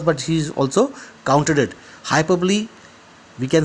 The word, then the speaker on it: hyperbole: Hyperbole, we can say na hyperbole, HYPERBOLE. Hyperbole, hyperbole मतलब बढ़ चढ़कर बोले. बढ़ चढ़कर बोले hyperbole. Spelling is hyper, HYPERBOLE, but we pronounce it as hyperbole.